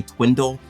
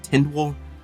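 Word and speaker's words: Tindwyl: we talk about how I always want to say twindle instead of Tyndall I don't know why it's really hard to keep that straight so if I say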